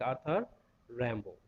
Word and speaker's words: Arthur Rimbaud: Okay, and remember this is a French word. And it should be pronounced like Arthur Rimbaud.